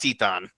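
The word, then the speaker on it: Titán: so it's it's pronounced tietan okay has little thing over the a yeah he's right see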